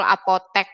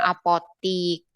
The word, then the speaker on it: apotek: Nah, apotek ya, yang betul apotek bukan apotik.